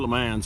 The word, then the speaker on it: Le Mans: Le Mans, or Le Mans as we called them.